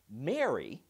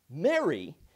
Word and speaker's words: Mary: would you marry me many people would argue that there is no difference whatsoever in pronunciation it's mary mary mary others believe mary the name and mary the matrimonial thing are pronounced the same but mary happy is totally different i would tend to agree with that and some say all three are different fine enough but i